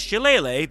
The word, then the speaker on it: shillelagh: It has a bunch of different pronunciations depending on who you ask and the region and all that stuff, but I went with shillelagh because it gives Elele a nice bouncy feeling, like skipping through the meadows.